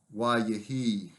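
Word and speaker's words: וַיְהִי: Add the vowel consecutive, however, and we get a very shortened form, wa yehi. Again, the accent here on the preformative syllable and a shortened form.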